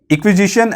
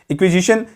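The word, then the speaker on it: Inquisition: Next है इक्विजिशन एंड सेडिटियस। इक्विजिशन एंड सेडिटियस, ये topic आपको बहुत ज़्यादा इंपॉर्टेंट है, ये देख लीजिए। इक्विजिशन, इसका प्रोनाउंसिएशन है इंक्विजिशन।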